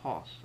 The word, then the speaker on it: Haus: was wondering physics is h-a-u-s but it's pronounced hoss as an h-o-s-s he put that in